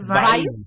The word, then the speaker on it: Weiss: Yeah, it's Wise. I mean, if you want to get super German, you could pronounce it Weiss.